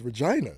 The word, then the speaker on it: Regina: That's how they pronounce it? That's what it is. That was Regina. No, it's Regina.